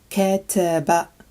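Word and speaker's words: كتب: This word is pronounced kataba, kataba, and it means to write.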